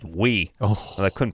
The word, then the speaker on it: Oui: had a magazine called We. Oh. Well, I couldn't pronounce it. I think I called it Oi or Owie or Ouie. something. Ouie, Yeah, it was people call it. OUI. Which is we.